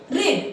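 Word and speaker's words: read: कोई अंतर नहीं होता, लेकिन ये पढ़ते हैं, बोलते हैं तो रीड, रेड। जब हम बोलेंगे तो इसको रेड बोलेंगे, हैज हैव के साथ अगर है तो रेड बोलेंगे, रीड नहीं बोलेंगे।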